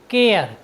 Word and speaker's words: care: साथ ही यहाँ पर आपने देखा है कि ए के बाद आर है और आर के बाद ई है, इसलिए हमने ए का उच्चारण ए किया है।